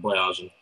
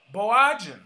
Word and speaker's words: Boyajian: I'm Boyajian. Boyajian.